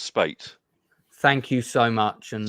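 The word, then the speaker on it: Speight: Richard Spite Senior. I'm just wondering if that's somebody we should know. I do apologise. I believe it's pronounced Spate.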